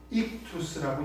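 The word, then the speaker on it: ΙΧΘΥΣ: 그래서 이걸 읽을 때 우리가 보통 익투스라고 읽습니다.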